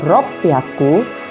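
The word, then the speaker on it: 六百: 300 kita menggunakan samyak u600 kita menggunakan Rocky aku dan untuk 800 kita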